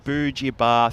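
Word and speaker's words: Beba: a little bit hand on the pronunciation it is indeed B Bar thank you for that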